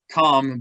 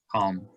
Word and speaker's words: calm: This word's calm, but the L, we don't really hear it in English for some reason. Calm.